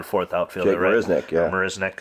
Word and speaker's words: Marisnick: Marisnick is how you say his name.